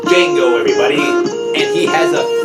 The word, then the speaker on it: Django: Franco Nero, the original Django. Who's the star of this one? You get it. Django, the D is silent.